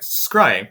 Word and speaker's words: scrying: scry scry is that is that how you pronounce it yes all right scrying thanks guys essentially it's there kind of kind